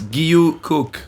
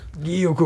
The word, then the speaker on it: Guilloux-Cooke: Guilloux-Cooke. Did I get that right? Guilloux. Guilloux. Oh, Guilloux. It's Guilloux-Cooke. Guilloux-Cooke. And if you actually my name pronounced in full French, Give it to me.